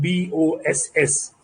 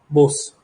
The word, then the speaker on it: boss: so what happens is when malayali's pronounces the word b-o-s-s he calls it he pronounces it as bose when a gamblian does that he says bas but the word is boss so this drastic difference